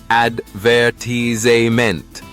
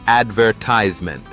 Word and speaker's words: advertisement: difference in everyday words like advertisement British English says advertisement and in the US it's advertisement these subtle differences make